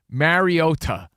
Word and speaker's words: Mariota: All of a sudden last night, Mariota.